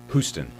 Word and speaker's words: Houston: of streets in New Year but it's it's pronounced boostin it's pronounced Houston Houston really yeah okay and the first time